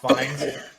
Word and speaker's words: Fiennes: I think it's pronounced Fiennes.